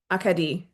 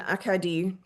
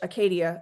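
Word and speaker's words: Acadie: Say it in French. Akadi. I repeat the unfamiliar pronunciation. Akadi, putting the emphasis in different places than the English Acadia I'd been using.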